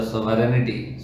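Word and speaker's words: sovereignty: फॉर a patriot the सोवरेनिटी ji silent रहेगा, वो नहीं बोला जाएगा।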